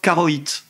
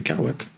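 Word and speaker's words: Caroit: Pourquoi tu prononces mal le nom des gens tout le temp ? Carate. Oui, parce qu'il y avait un côté coïte, je pense. Et voilà. Mais c'est Carwat.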